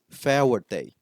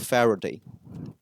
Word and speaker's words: Faraday: at school due to a speech issue that caused him to mispronounce the r uh he often said his name as Fa Day and instead of Faraday as a result of